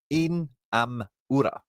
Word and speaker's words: Inamura: it's an anecdote, but the way I was told to pronounce Japanese names by a man over in Japan is um two letters is a syllable and vowels are short.